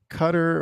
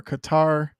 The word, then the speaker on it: Qatar: mean I guess I whether you pronounce it cutter or Qatar oh guitar yeah I